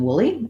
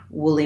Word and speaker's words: woolly: the the first syllable the first syllable is stressed in woolly and the y says the tense e sound woolly mammoth again the main